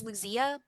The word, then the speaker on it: Luzia: I say it as Luzia but I mean you know it's it's written down. I say Luzia but you could probably mispronounce it any other way you want.